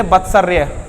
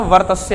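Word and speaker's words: वर्त्स्य: करेंगे तो क्या होगा, कुछ लोग इसको गलत पढ़ते हैं, इसको पढ़ते हैं कुछ लोग बत्सर पढ़ लेते बत्सर्य, बत्सर्य, लेकिन ये बत्सर्य का क्या होता है, वर्तस्य है।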